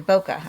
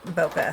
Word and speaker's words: bokeh: Bokeh, I believe, is the correct pronunciation.